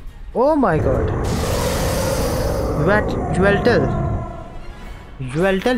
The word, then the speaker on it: Yveltal: ओह माय गॉड, ज्वेल्टल ही बोलते हैं उसको, ज्वेल्टल बोलते हैं, वाई साइलेंट है।